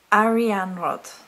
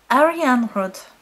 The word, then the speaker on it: Arianrhod: goddess REM rod now that's how the pronunciation is given here I understand that there are different interpretations of and if I'm saying it wrong then forgive me but they would go okay so re on rod meaning silver wheel or